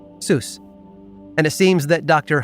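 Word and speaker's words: Suess: E and U flipped both though were pronounced the same way Zeus and it seems that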